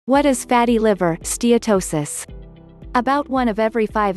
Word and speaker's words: steatosis: people with obesity have fatty liver in steatosis pronounced steatosis fat accumulates in the cells of the liver